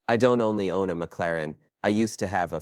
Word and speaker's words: McLaren: This part pisses me off because he says the name wrong like eight times in a row. It's not McLaren, it's McLaren.